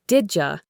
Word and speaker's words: did you: When the D sound at the end of did is followed by the Y sound at the beginning of you, the two sounds blend together. They combine to create a completely new sound, the J sound like in the word jam.